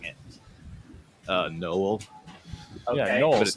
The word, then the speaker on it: Nowell: How were you pronouncing it? Nowell, Okay.